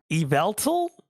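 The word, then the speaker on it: Yveltal: gonna call you out, but you've been saying evil all night. I'm just saying. Is it yol? Eveltal. Eveltal.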